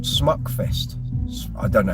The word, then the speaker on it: Smukfest: We did a festival called Smukfest. I don't know how you pronounce it. S-M-U-K. There's an umlaut over the U. So Schmuckfest.